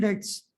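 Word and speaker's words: debts: मतलब होता है कर्जा डी ई बी टी बी य पर साइलेंट होता है बी नहीं पढ़ जाता दिस इ न डेप्ट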